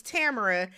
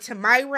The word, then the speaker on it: Tamara: not talking Tammy so my name is Tamara I get Tamara Tamara I've heard Tamaya I've heard so